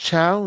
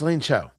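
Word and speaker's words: Elaine Chao: Did Elaine Cho, is it pronounced Chiao? No, it's Ela Cho.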